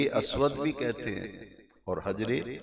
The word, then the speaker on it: حجر: کہتے ہیں اور حجر، کئی لوگ ہجر اسود کہتے ہیں، ہجر کا لفظ غلط ہے، ہجر کا معنی ہے جدائی، ہجر کا معنی اور حجر کا معنی پتھر، صحیح پروننسیشن تلفظ ہے حجر اسود۔ حجر کا معنی ہے